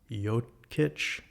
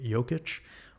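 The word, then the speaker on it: Jokić: Patrick Mahomes wears number 15, just like Nikola Jokic, I believe is how you pronounce his name. Jokic wears number 15.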